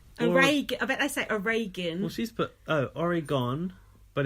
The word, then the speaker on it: Oregon: get it wrong constantly they say all gone but it's a Reagan well she's put Oregon